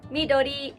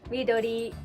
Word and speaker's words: midori: green how do you say green in japanese midori midori as with orange in this case you would